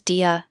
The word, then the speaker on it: die: Ensure you pronounce die as dia, not like the English word die.